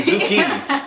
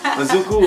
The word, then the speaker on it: Izuku: I keep saying Izuki. Izuku.